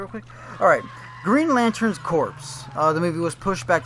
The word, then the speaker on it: Corps: Corpse stands for... It's Green Lantern Corps. Oh, really? Corps. Oh, well, You tried that. I'm pronouncing it Corpse.